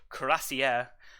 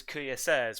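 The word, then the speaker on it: Cuirassier: now pronounced or it's always is always was pronounced as crazier i've been pronounced kuya says which is um now i think about it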